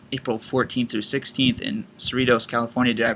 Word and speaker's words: Cerritos: mount sac relays April 14 through 16 in Cerritos California do I pronounce that correct Cerritos California data is correct okay and then we